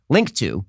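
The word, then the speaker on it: Linqto: for private Equity investing link to which is spelled l-i-n-q-t-o provides a streamlined solution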